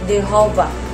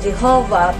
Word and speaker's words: Jehovah: Hundreds of years after the scripture were written down, the vowels for Adonai were inserted under the consonant for Yahweh, creating a pronunciation that sounded like Jehovah or Jehovah, but this is not a natural Hebrew pronunciation.